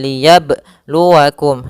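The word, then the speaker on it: لِيَبْلُوَكُمْ: Misalkan liyab liyab b ada tambahan hamzah yang disukunkan. Kemudian yang kedua misalkan berhenti liyabluakum sambil mengambil nafas. Ah ini yang sering terjadi. Harusnya tidak boleh karena kenapa? Karena di sini apa? Qalqalahnya tidak boleh. mantul. Eh, maaf tidak boleh ada tambahan hamzah ataupun berhenti akan tapi dia mengalir. Liyabluakum.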